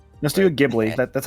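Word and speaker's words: Ghibli: Let's do Giblly. That's how you pronounce it.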